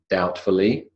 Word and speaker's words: doubtfully: Doubtfully, suppressed B.